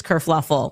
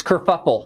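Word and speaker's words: kerfuffle: Kurfluffle. Oh, no. That's it's kurfuffle.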